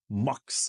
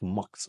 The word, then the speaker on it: muck: Am I saying it right? It's a muk. Muk mock. I was saying mockups, but it's mucks.